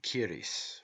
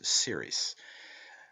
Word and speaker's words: Ceres: The word in Irish is pronounced Kyris, while in English it has the soft sound as Ceres.